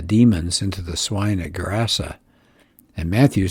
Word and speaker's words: Gerasa: And it says the English pronounce it Cursa, but a Hebrew word translates it into Greek, and it would sound like Gerasa.